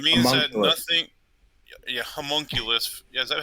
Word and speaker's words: homunculus: Yeah, homunculus. Yeah, is that how you say it? Yeah, whatever Yeah, the it's homunculus.